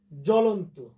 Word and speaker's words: জ্বলন্ত: ফলে জয়ের সাথে ব ছিল, এই ব মানে বফলার উচ্চারণ হলো না, জ্বলন্ত।